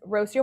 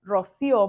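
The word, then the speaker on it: Rocío: particular field of law my name is Rosio in Spanish it's Rocio and I'm an immigration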